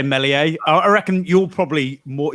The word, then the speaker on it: Meslier: Meslier is the way I say it. Oh, that's what Nick said. Get out. How did you pronounce it, Hal? Meslier. I've heard people say Meslier.